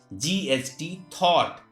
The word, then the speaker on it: thought: If at the last of any word GH or GHT is found, in that condition GH is silent.